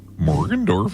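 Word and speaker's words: Morgendorffer: Morgan Dorfer. You have to say it like that.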